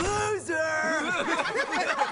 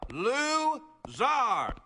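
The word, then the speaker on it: Lou Zarr: you two stop talking my name is loser it is pronounced Zar Lou Zar this is trulo Kel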